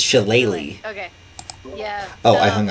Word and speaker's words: Shillelagh: Sheila? I believe is how it's pronounced.